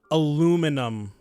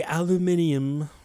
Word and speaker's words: aluminium: my beloved Hometown vase aluminum I know the British say aluminium and for for some reason